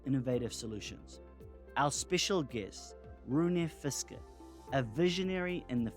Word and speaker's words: Rune: The real pronunciation in Danish is actually Rune, but it's very hard for English speakers to pronounce that. So Rune is the best pronunciation, but don't worry about it.